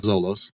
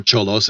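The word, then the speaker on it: Xolos: after that you have Zolos or Cholos if you like to pronounce it with a Spanish accent.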